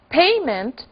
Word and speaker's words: payment: Em inglês, payment, que é parecido, tem a sua sílaba forte um ponto antes, né? Digamos assim, uma sílaba antes.